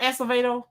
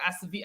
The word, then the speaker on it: Acevedo: Are we gonna talk about Art Acevedo?